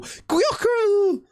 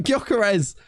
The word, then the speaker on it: Gyökeres: Gyökeres! Didn't even say his name right. Gyökeres.